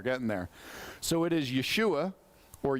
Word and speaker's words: Yeshua: in Hebrew we're getting there so it is Yeshua or yahoshua which means God is our Salvation the Greek pronounced it Yus and the English today we